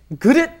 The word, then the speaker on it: 그릇: And let's say, 그릇 is very difficult to pronounce. Right. 그릇. Okay, you've got that vowel U that's very difficult to pronounce in English.